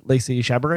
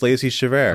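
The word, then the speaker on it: Lacey Chabert: uh many people don't know that Meg from Family Guy was actually voiced by Lacey chabaran oh yeah yeah chaver Chabert is that how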